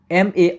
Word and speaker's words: MA: তো এখানে মূলত আমরা বসাবো হচ্ছে এন, অর্থাৎ যেহেতু এমটার উচ্চারণ হচ্ছে ভাওয়েলের মতো, MA এই সংক্ষিপ্ত অ্যাব্রিভিয়েশনের উচ্চারণ ভাওয়েলের মতো, অর্থাৎ এ আসে উচ্চারণের ক্ষেত্রে ভাওয়েলের মতো উচ্চারণ, তাই এন বসবে।